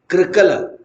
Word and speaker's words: कृकल: Orally Sanskrit के उच्चारण में री होता है, कृकल, जिसको प्रादेशिक में क्रू बोलते हैं, इसका क्री हिंदी में ठीक है उच्चारण, कृकल।